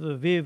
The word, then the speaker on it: Aviv: are in this in the writing so it's pronounced the month of the month of aviv was so named because they couldn't start the